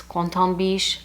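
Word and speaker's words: Quentin Bisch: And it has one of my favorite perfumers, Quentin Biche. Now that is the English way to say his name. I did have someone recently correct me and say that it's Quentin Biche.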